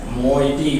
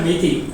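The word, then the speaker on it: Meitei: correctly pronouncing it as moiety, moiety, moiety, moiety. But whereas మన Telugu news పేపర్లో కానీ అది న్యూస్ పేపర్లో మెయిటీ మెయిటీ అన్న, ఇట్స్ నాట్ మెయిటీ, ఇట్స్ మోయిటీ, మోయిటీ, మోయిటీ.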